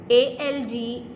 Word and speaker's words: algae: ALGAE.